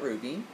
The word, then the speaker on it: RWBY: you need to go check out Ruby it's on Netflix it's spelled same way as Ruby except with a uh instead of a u it's a w and um Rooster Teeth